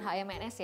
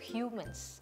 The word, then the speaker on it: HMNS: tulisan hmns nah gitu ini dibacanya itu bukan HMS ya tapi itu hiu mens Oke dari segi packaging